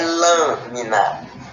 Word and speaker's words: lâmina: A gente não pronuncia lá, não, é lâmina.